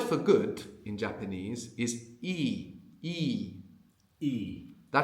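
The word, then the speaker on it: いい: good in Japanese is e e. That's a long vowel e. And it's important to pronounce it long in the same way the difference between sheep and ship is important in English or sheep and and what?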